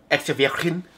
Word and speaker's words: extravergine: Extravergine. Like, oh. That's how you say it properly in Italian.